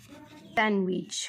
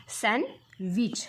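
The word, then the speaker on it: sandwich: इट it vegetable हेजिटेबल सँडविच काय आहे बघा सँड विच लक्षात आलं का विद्यार्थी मित्रांनो इथे आपण डी चा उच्चार करत नाही काय होतो बघा सन विच लक्षात आलं का त्यासोबत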